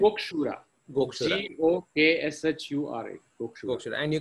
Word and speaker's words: Gokshura: And spell it again, Gokshura. Correct? Gokshura. Gokshura.